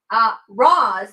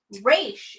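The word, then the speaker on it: Ra's: Roz, how it's pronounced when Batman Begins, is the Arabic pronunciation. Raish is the Hebrew pronunciation, which they use in Batman the Animated Series.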